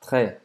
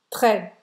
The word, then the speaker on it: très: a gente vai pronunciar Très. très ou très, tanto faz, tá? O E aberto ou o E fechado, tanto faz. Escolha como você quer pronunciar, depende da região.